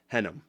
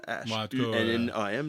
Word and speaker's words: Hunnam: Je ne sais pas comment prononcer son nom de famille, là. C'est Charlie Hunnam, qui était dans Sons of Anarchy. Oui, l'acteur britannique. Oui, c'est Hunnam. Je ne sais pas moi, c'est H-U-N-N-A-M, là.